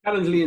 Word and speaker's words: Calendly: Ian does Calendly. Is it Calendly? How do you say that, mate? Calendly and Zoom integrations, Chris.